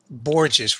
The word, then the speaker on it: Borges: last name or what Borgeous rhymes with gorgeous like my wife okay we got it